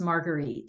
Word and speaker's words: Marguerite: name is actually pronounced Marguerite so just to let you know it's like the drink without the a I got the last